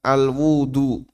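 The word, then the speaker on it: الوُضوء: Bisa dibaca al-wudu. Nah, kalau dibaca ini artinya kegiatan. Kalau dibaca al-wadu, ini media untuk wudu. Cuman beda di harokat beda di harokat fathah sama dhamma. Sehingga ada istilah suhur, ada istilah sahur.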